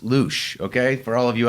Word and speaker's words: Luszcz: So yes, and it's pronounced Luche, okay?